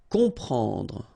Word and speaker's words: comprendre: Exactly the same thing here. You've got OM, and after that you've got a consonant, so you will get the sound on, nasal, okay? You don't hear any M here, okay?